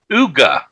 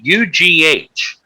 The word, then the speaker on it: Ugh!: Uga, I believe it's pronounced UGH.